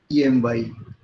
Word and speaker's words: Ptolemy: Ptolemy is pronounced as, written as Ptolemy. So P remains silent.